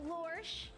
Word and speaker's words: Lorsh: the 19th coming soon Kira Reed lorsh which rhymes with porch thank you so so